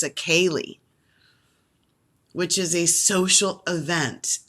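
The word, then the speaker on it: ceili: social dance called achaeli akali spelled c-e-i-l-i so that's gaelic pronunciation it's a kali which is a social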